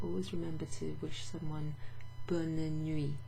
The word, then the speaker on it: bonne nuit: remember to wish someone bonne nuit. Instead of bon nuit, well, bonne nuit, bonne nuit. You pronounce that N. There's two N's and an E in bonne nuit.